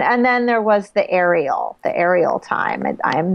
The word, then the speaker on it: Ariel: And your name is actually pronounced Ariel, as sort of like the letters of the alphabet, R-E-L, not Ariel. I hear a lot of people saying Ariel, right?